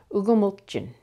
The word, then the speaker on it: ugumulchin: Ugumulchin. Let's start by trying with the last syllable and working our way back. Jin, mulchin, gumulchin, ugumulchin, ugumulchin, eight.